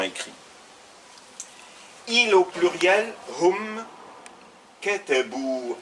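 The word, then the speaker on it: كتبوا: Il au pluriel, hum, katabu. Attention, le alif ne se prononce pas.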